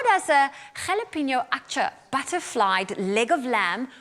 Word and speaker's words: jalapeño: carl heard me pronounce before i pronounced it jalapeno oh no did you say jellyfino can you call laughing in the background i'm not the only one that called it a jelly pinot no it's fine it's